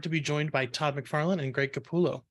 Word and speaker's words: McFarlane: I do my little introduction let me just pronounce the names make sure I get them right Todd McFarland and Greg capulla that's us perfect I just